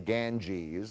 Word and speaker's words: Ganges: It is mispronounced in English, the Ganges. Well, it's an English word. But all over India, it's the most famous river of all. It's the Ganga.